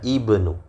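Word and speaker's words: ابن: Jadi itu tadi intinya, kalau dia berada di awal tidak ada mendahulunya, maka dia dibaca ibnu.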